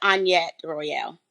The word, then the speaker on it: Annyett Royale: I'm now politicking with the lovely Annyett Royale. I said your name right? I don't want to say it wrong. No, it's Annyett Royale.